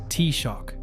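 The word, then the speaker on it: Taoiseach: The duty belongs to the Tawi sich which is pronounced t-shock.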